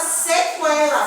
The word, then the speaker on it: sequela: Mas existem palavras que eu pronuncio sim, que eu escuto o som do U. Por exemplo, na palavra sequela, como no livro de vocês está, certo?